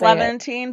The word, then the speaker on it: Levantine: the silence of Shaherzad how to pronounce is it Levventine Leavant Levantine I don't know how to say it's Levventine but like that's how I read it.